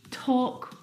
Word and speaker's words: talk: Words like salmon, not salmon, half, not half, would talk, walk. All of these words have a silent L in them, which makes them a little bit tricky to pronounce correctly.